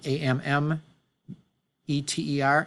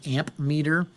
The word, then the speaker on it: ammeter: called the non-contact ammeter it's spelled AMM ET ER ammeter instead of amp meter it measures current in